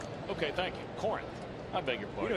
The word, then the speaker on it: Corinth: I think that you pronounce it Corinth. Okay, thank you. Corinth.